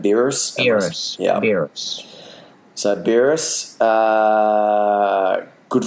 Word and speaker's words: Beerus: Beerus.